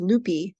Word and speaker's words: Lupe: It was Lupe, not Lupe.